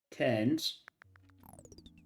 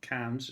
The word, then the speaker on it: Cairns: Ken's. It's Ken's I think that's how he uh the Australians uh pronounce not cans, it's Ken, I think.